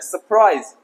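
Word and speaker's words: surprise: सरप्राइज, और बोलते क्या? सरप्राइज। बहुत ही गलत। ओनली ये देखिए आर साइलेंट है, यहां भी ये सारे साइलेंट करना है मेरे प्यारे बच्चों। जी हाँ, इसे सरप्राइज पढ़ना है, सरप्राइज।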